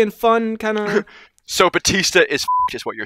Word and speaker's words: Bautista: with a u well it's spelled bautista but i think it's pronounced batista we should we should